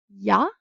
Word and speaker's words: ja: J is a half vowel and is pronounced as an English Y sound when it's the first letter. An example is ja, I, and in imported French words, it is pronounced as a sh.